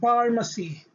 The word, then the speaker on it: pharmacy: particularly letter p okay if p is followed by letter h the pronunciation is letter f a as in f like pharmacy pharmacy pharmacy okay it